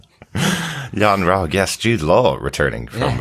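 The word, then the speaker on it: Yon-Rogg: that we're still in I do feel that yon Rog well it does it rhymes with eggnog Yan ra yes Jude Law returning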